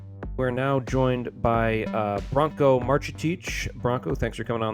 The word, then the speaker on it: Branko Marcetic: They are the vanquished vanquished We're now joined by uh Bronco Marchic.